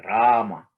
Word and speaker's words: Rama: is an m a rama right so ra ah ma so three syllables also rama is powerful